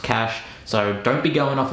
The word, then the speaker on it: Caché: I'd like to say before I start that I thought it was pronounced Caché or maybe Cache, but apparently it's a French word and it's pronounced Cache, so don't be going off about it in the comments, you fuckers.